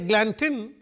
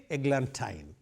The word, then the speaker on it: eglantine: So, if I say eglantine, it cannot rhyme with wine. So, I have to say eglantine.